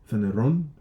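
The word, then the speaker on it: φανερόν: See how I pronounced that wrong? I should have said Phaneron. I said phaner.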